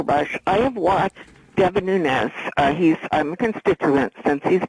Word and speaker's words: Nunes: The first thing is you pronounce Devin Nunes' name right. He's Portuguese. He does not have a tilde over his the N in his name, and it's like fingers